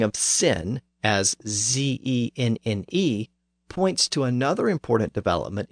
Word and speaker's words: Zenne: And in that text, the letter Z is routinely used to represent the initial Z sound in many of those southern words. So for example, sin is spelled as Zenne, Z-E-N-N-E.